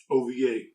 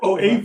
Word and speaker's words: OVA: do whatever you want out loud ova that's how that word is pronounced or or oav if you must original video animation or